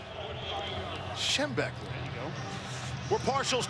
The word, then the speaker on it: Schembechler: Schembechler.